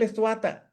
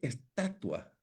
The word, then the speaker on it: estatua: Bueno, si es que el estuata, no, no, no, maestro, no se dice estuata, se dice estatua y y hay mucho